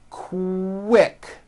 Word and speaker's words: quick: So, for example, the word quick is pronounced with a K and a strong W sound. Quick, like that.